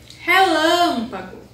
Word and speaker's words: relâmpago: Relâmpago. A sílaba mais forte é o lã.